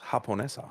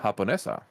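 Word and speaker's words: japonesa: In Japanese, in Spanish, it's pronounced Haponessa. Haponessa.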